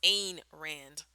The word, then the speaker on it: Ayn Rand: There's a debate on how you pronounce her name, but I thought for a long time it was Ayn Rand. It's Ayn Rand.